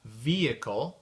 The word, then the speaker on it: vehicle: exemples rapidement euh de de mots en anglais où on prononce pas le H c'est le H muux